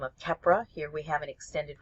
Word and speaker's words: Keppra: and that's known by the brand name of Keppra. Here we have an extended release formulation, Keppra XR.